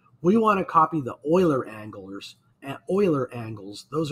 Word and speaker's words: Euler: a difference in angles euler angles that word e-u-l-e-r is pronounced euler euler angles are what